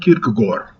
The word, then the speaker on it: Kierkegaard: Martin Buber and Søren Kierkegaard. That's how you pronounce it.